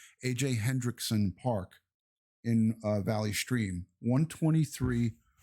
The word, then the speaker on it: Hendrickson: AJ Hendrickson Park in Valley Stream, 123 West Merrick Road, Valley Stream, Sunday, March 1st.